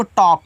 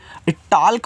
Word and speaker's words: talk: टाल्क मत पढ़ देना, काफ़ी लोग होते हैं जिनको नहीं तरीका पता, टॉल्क पढ़ देंगे। भैया यहाँ पे यल आपका साइलेंट रहेगा, उसका प्रोनाउंसिएशन आपको नहीं कहना है।